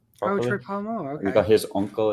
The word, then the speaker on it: Polamalu: Palomalu. Properly? Oh, Troy Polamalu.